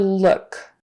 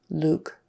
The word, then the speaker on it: look: one um the word look another unique vowel in American English is what we call the Horseshoe U uh look book took